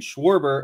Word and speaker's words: Schwarber: It says, Sean, can you please explain to Jesse that Schwarbrick, how I've been saying it, and Schwarber are pronounced the same on the front end?